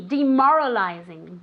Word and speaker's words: demoralizing: This is tricky. Demoralizing. D, as if it were D-I, okay?